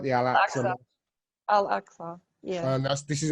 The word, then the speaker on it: Al-Aqsa: about the alas uh the uh am i pronouncing that right the al actually al-aqsa yeah and that's this is a temple mount